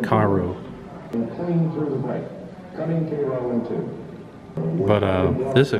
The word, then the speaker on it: Cairo: bayonets and guess what I've been saying it wrong the whole time it's Cairo foreign but it's Cairo not Cairo only an idiot would call it Cairo but uh this is